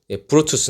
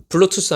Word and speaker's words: 브루투스: 왜 그 사람 이름이 브루투스 인데 블루투스 아니에요 풀어주세요 그 프로토스가 카이사르를